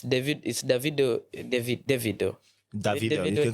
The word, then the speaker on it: Davido: Some call it Davido. Because I was seeing online, someone was calling him David and he was saying he is Davido.